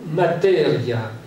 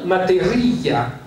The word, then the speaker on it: materia: Mais si l'italien est une langue rythmée, si on regarde le mot materia, on peut... Ça, c'est la manière dont les Italiens le prononcent. Mais si on met l'accent tonique sur le i, on va dire materia.